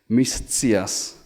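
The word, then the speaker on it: mi scias: to practice it because the letter C in Esperanto is ts, like the sound in pizza or bits. So the challenge is, it follows the letter S, so you're going to trip over.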